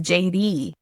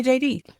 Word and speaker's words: Jeiri: But it's but it's pronounced like the J and the D. Yeah, because it's in Spanish and you would roll your R's. So it's really not a D sound, but in English it sounds like a D. So my name is JD. And so people, the easiest way to get folks to understand how to say it is to be like, oh, well, just say JD.